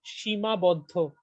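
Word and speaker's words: Seemabaddha: uh so the film tell me how to pronounce it before I butcher it Shima Bodo Shima Bodo okay so the the central conceit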